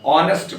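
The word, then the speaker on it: honest: जैसे हम देखते हैं हा ओ एन ए एस टी लिखा हम इसका उच्चारण ऑनेस्ट करते हैं हा ओ यू आर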